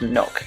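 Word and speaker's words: Nøkk: attacker, an operator called, we think it's pronounced Nook anyway. Yeah. But she is Danish and she has an accent on the O. I guess we would call it an O anyway, in her name.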